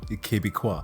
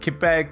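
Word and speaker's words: Québec: french part of canada quebec i don't know why i always pronounce it like that the kibiqua anyways uh quebec made this wonderful game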